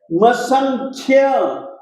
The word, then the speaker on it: मसंख्य: इसी तरीके से मसंख्य, ख भी आधा है और यह पूरा है, तो मसंख्य, ख में आप किसी भी स्वर को जोड़ेंगे नहीं, बल्कि ख को आप बिल्कुल हलंत बोलेंगे, मसंख्य।